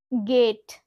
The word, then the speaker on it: gate: গেট, গেট, গেট মানে কি? দরজা বা দ্বার। তো এখানে আমরা স্পেলিংটা দেখো GATE। জি এর পরে কিন্তু আমরা এ কে দেখতে পাচ্ছি, তাই আমরা এখানে প্রোনাউন্স করছি গেট, অর্থাৎ জি কে আমরা